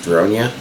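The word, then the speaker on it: Ronja: watched enough of it to know that it's pronounced Ronia, and at least that's how they pronounce it in the show.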